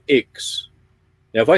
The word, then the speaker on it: IX: got some other friends in a group called Ix. Now, if I say Ix to you, how do you think that's spelled?